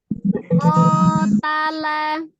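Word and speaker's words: قَتَلَ: Dirasakan bunyi kof berfathah, mulutnya tetap harus terbuka, naikkan pangkal lidahnya, dirasakan benar-benar ya pengucapan hurufnya itu, bacaannya tartil ya.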